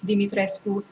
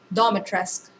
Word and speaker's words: Dimitrescu: with what's canon but irl romanians did say it's dimitrescu rather than in-game pronunciation dormitoresque i'ma listen to the